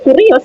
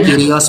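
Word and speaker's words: κύριος: Enggak, ini kurios ini. Cara bacanya Kyrios Pak, kan ada harokatnya itu Pak, gimana sih? Kalau kurios sampean salah baca itu.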